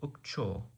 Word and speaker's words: ukcho: Sometimes is ukcho. Ukcho. With a stress on the final syllable. So ukcho.